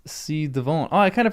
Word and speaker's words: ci-devant: Pronounced ci devant.